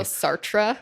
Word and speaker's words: Sartre: Well, it's also Sartra, not S.